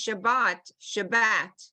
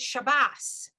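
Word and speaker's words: שבת: I think the Sparties pronounce Shabbat. I've heard that, Shabbat. They may, yeah, they may. And the Ashkenaz pronounce it Shabbos, right?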